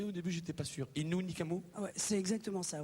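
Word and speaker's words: Innu Nikamu: J'ai bien prononcé au début, j'étais pas sûr. Inu Nikamu.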